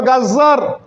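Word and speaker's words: غزة: আজকে গাজ্জার অবস্থা, গাজা না কিন্তু গাজ্জা, ভুল উচ্চারণ করছে পত্রপত্রিকাগুলো, যার উপর তাসদীদ হয়েছে।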